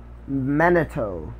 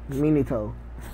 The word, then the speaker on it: Minato: true me neato neato he never pronounces the pronounce Manito Minato anyways Minato Naruto and